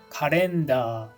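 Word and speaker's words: カレンダー: Doesn't the pronunciation sound quite different? Especially the L and the final AR part. Those are quite different from the original English, aren't they?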